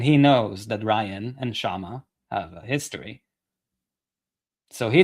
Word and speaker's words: Kshama: Kshama Sawant on. No K. Sorry. The K is silent.